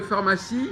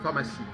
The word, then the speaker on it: pharmacie: dégâts alors est-ce que pharmacie c'est comme ça comment il faut prononcer le ph de pharmacie enfants ça n'incite dh ça fait fin f ça fait f